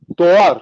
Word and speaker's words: Dogar: Dogar. It's a silent G. Doar.